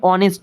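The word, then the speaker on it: honest: এইচ এখানে silent থাকে। ঠিক আছে? এখানে অনেস্ট হয়।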